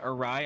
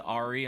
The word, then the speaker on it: awry: was a funny word awry I used to pronounce the Ari until like literally last last